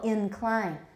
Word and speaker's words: incline: or a schwa incline the first syllable is a schwa or a full vowel it's a full vowel incline incline sounds odd i